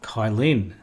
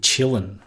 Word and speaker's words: Kylin: video we're going to be looking at ubuntu kylin now that's how most of us in the west pronounce that but um actually if you if